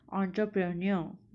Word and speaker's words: entrepreneur: इसका right pronunciation as पर मी is course, as per Google also it इज़ एंटरप्रेन्योर.